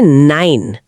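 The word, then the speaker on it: nein: तो जा नहीं या या और नो के लिए कहते हैं नाइन। नाइन। ये सुनने में बिल्कुल इंग्लिश के नंबर नाइन जैसा है। तो इसे याद रखना बहुत आसान है। या और नाइन।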